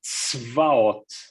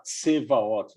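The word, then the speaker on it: צבאות: Esses dois pontinhos na vertical quer dizer que é para a gente pronunciar a consoante sem nenhuma vogal. Por isso que essa palavra ela começa assim, tzvaot, tzvaot. Tá bem? Não é para falar tsevaot, não é para colocar um i ou um o, não.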